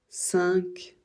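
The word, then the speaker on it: cinq: peu exceptionnel parce que la dernière lettre c'est un Q et il n'y a pas de U après ça change rien on va toujours le prononcer que voilà et il y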